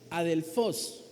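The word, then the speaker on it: ἀδελφός: el reino, se utiliza una palabra que se pronuncia más o menos adelfos, que significa hermanos.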